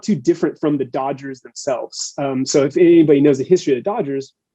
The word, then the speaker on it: Dodgers: So it's, in order to pronounce Dodgers, a majority like Spanish speaking person is going to say Doyers.